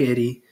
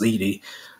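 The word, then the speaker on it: Edey: Purdue with with Zach Eddy you know and I always get his name wrong I believe it's pronounce Edie um should take care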